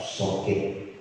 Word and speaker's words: Sokid: Sokaraja Kidul disingkat Sokit. Jadi bacanya bahasa Indonesia Sokit, jangan Sokit. Sokit.